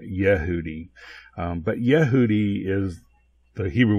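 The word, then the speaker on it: יהודי: Rafa here however it he says yahoodi issue I would pronounce it Yehudi but yahoodi is the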